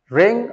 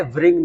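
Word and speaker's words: wring: Guys, इसको रिंग बोलना है, व्रिंग नहीं बोलना है, क्योंकि जब भी डब्ल्यू और आर साथ में आता है तो डब्ल्यू साइलेंट हो जाता है, जैसे आपने राइट में, रोट में या रॉन्ग में देखा है।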